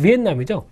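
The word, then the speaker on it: Vietnam: 그래서 베트남 같은 경우는 영어로 하면 비엔남이죠. 네, 베트남은 아니고요. 베트남은 약간 이제 콩글리쉬 발음이고요.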